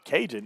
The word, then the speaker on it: Kaygen: Cajun. Yeah, but the way it's spelled is Kaygen.